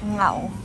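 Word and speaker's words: 牛: And beef is ngao. Very hard to say, but.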